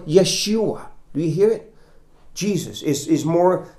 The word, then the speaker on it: Yeshua: joshua you would you pronounce it in hebrew like yeshua do you hear it